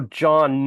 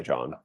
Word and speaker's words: Jon: that actually yeah and J N is a cooler way than JN like what's the H there for exactly it's just a silent letter it doesn't add anything